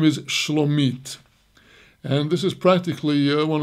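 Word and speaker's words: שלומית: But here, with almost the same spelling, but not quite, and a different nikud, a different vocalization, the name is Shlomit.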